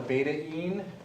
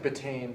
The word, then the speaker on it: beta-ene: It's called a beta INE. It's called a beta-ene. Beta-ene. Some people would mispronounce it as betaine. It looks like betaine, but it's not betaine.